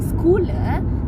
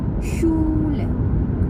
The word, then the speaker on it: Schule: Jadi kalau ketemu huruf SCH bacanya seperti sh gitu. Nah, itu dibaca bukan Schule, tapi dibacanya Schule.